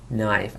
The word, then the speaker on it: knife: Christmas knee میشه زانو knife اصلا کی رو نمیخونیم knob knowledge not knit